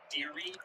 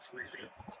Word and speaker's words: Deary: It is pronounced Deary, not Dreary.